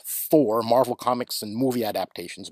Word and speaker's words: Thor: Another place in which Odin is depicted with an eye patch is in the Thor, pronounced Tor originally, but in English, Thor, Marvel Comics and movie adaptations, most famously played by Anthony Hopkins.